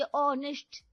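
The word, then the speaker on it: honest: ऑनेस्ट एच तो silent होता है ना।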